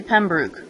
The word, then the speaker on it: Pembroke: cloth belt and the boat is called the Pembroke and there it is you're probably thinking oh didn't I just see Pembroke why did you say Pembroke well the guy who made it says that's how he pronounces it so I'm just pronouncing it with